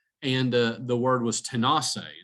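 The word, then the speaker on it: Tanasi: this place called and uh the word was tenaci it's pronounced tenaci in cherokee but what i find remarkable is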